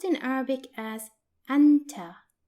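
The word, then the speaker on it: أنتَ: and you are for masculine singular which is pronounced in Arabic as Anta Anta and it's written like this now let's see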